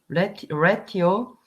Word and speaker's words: ratio: Crime rate, noun, the ratio of crimes in an area to the population of that area. Okay, so we pronounce this ratio.